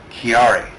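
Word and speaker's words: Chiari: And it's uh to to uh recognize a disease called I believe it's called kiari, but it's spelled c h i a r i.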